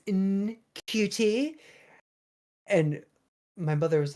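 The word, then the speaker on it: Ncuti: I'm pretty sure it's Shuti. I want to say I saw an interview where he kept saying his own name wrong, and then his mom called him out. He's like, "It's Nkuti," and my mother was like, "Why do you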